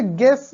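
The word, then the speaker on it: guess: वैसे गैस, जी यू E double S, अब अगर यू नहीं होगा तब भी काम चल जाता ना, जी ई डबल एस गैस होता है, लेकिन यू है तो यू हमें साइलेंट में मिला है।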